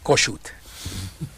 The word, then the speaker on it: Kossuth: and how do you really pronounce it? Kossuth.